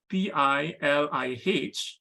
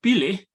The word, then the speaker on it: pilih: So for example, the word spelled P-I-L-I-H is pronounced pilih in Sebutan Johor Riau, but pilih in Sebutan Baku.